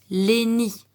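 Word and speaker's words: Lény: Et cette fois-ci, la lettre Y va se prononcer comme si c'était une voyelle. D'ailleurs, c'est une voyelle. Comme un I. Donc, on va dire Léni.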